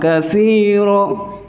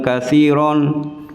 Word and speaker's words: كثيرا: Ini panjang juga, panjangnya sama, kathira bukan kathiron, itu salah.